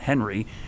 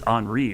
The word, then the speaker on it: Henri: Like Henri, right? It's not Henry, it's Henri, right? Because it came from the French version.